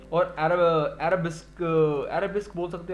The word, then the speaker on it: arabesque: और अरबिस्क बोल सकते हो आप इसको, जो भी प्रोनाउंस करना चाहते हो। ये वर्ड जो है ARABESQUE, ठीक है, अरबिस्क बोलूंगा मैं इसको, तो क्या बोलूं।